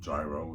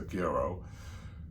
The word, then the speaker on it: gyro: We ordered a gerro. Chicken grow. Chicken gerro. And it's pronounced gerro. According to the local from Athens a couple years ago, instead of gyro, they said it's a gerro.